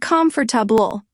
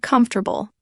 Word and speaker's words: comfortable: I said the word comfortable wrong for years. I said calm for tabul. But with AI reading it, I heard comfortable. Big difference.